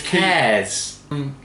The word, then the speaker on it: Kees: How do you pronounce that? Pink. Kees. Kees. Brewredge. It's Kees.